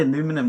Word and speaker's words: aluminium: You know, Americans say aluminum all the time, but we say aluminium and titanium to improve its integrity.